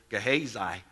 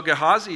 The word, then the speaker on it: Gehazi: new today I always I always grew up pronouncing his name gehazai so thank you Dennis that was nice so so gehazi is saying don't you